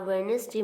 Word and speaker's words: Wednesday: It was a Wednesday morning. In Wednesday, D is the silent.